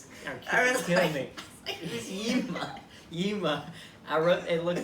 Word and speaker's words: Yzma: Yeah, I don't think there's a Y in front of it. No, there is. I looked it up. There is? Yes, I looked it up. Why silent? No, I don't know. But that's how you spell it.